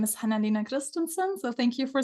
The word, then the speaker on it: Hanna Lena Christensen: all right hello everyone U my name is hanina Christenson so thank you for saying my name the